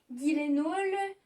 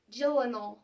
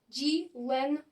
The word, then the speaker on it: Gyllenhaal: Mais alors, son nom de famille, j'ai entendu beaucoup de Français dire Gyllenhaal, Gyllenhaal, Gyllenhaal. Non, c'est pas si difficile que ça. Au final, il s'appelle Gyllenhaal. Gyllenhaal.